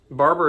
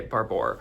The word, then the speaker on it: Barbour: Barber is actually how you say it. I just, for some reason, always accidentally say Barbour.